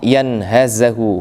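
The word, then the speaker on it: يَنْهَزُهُ: Wa qauluhu sallallahu alaihi wasallam yanhazahu huwa bi fathil ya wal ha wa bizai ay yukhrijuhu wa yunhidhuhu. Kalimat yanhazahu dengan difathakannya ya, difathakannya ha dan zai, berarti yanhaza, Pak ya. Bacanya yanhaza.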